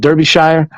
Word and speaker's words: Derbyshire: her parents moved over to uk to uh derp shire derbyshire is how he pronounced it derbyshire and lived there ever since and she said